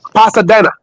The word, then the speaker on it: Pasadena: he's not passing in it's pronounced Pasadena that's a Spanish word bro no no that's